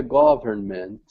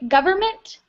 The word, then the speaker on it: government: usually when we say government we do not pronounce um hold on let me highlight it we don't need to pronounce this in so it's just government government perfect yes exactly all